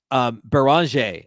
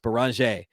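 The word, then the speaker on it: Beringer: Beranger is how I think it's actually pronounced. Beranger is how Adam Silver said it at the draft.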